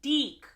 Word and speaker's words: DIC: for destroying DIC entertainment which I learned from the Care Bears video is actually pronounced deck okay so I know